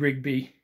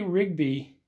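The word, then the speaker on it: Ridgid: So I will say Rigby, or Ridget, I think it is pronounced Ridget.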